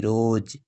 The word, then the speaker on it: rose: একইভাবে ROSE, এখানেও দেখো ই এবং ও এর মাঝখানে আছে এস, তাই এই এস সাউন্ডের উচ্চারণ হবে জয়ের, যেমন ROSE রোজ।